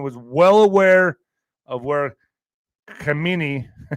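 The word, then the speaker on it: Khamenei: well aware of where Kamini is that how you say his name Kamini how do you say his name Alex yeah that's pretty much it yeah all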